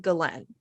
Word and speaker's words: Ghislaine: So everybody in there called it Ghislaine or Ghislaine or Ghislaine. So it was all different ways, but her brother said Ghislaine. So I'm going to call her Ghislaine because I would assume her brother knows how to say her name.